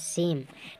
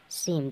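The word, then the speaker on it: same: ई होता है ना ई का प्रोनंसिएशन नहीं होता है इ का उच्चारण नहीं होता है जैसे यहां देखिए इ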